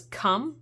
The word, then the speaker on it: Kum: The brand's name is Kum. I'm not joking. It's not spelled with a C, luckily.